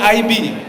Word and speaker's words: iB: salam sejahtera bagi bapak ibu semua senang sekali saya hadir di sini Saya dari Bank Indonesia tadi moderator menyebutkan ide Sebenarnya bukan IB Tapi bacanya Aibi Jadi kau Bapak Ibu